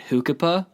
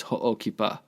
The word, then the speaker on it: Ho'okipa: When I started working there, they were pronouncing it Hukipa. I'm like, it's Ho'okipa.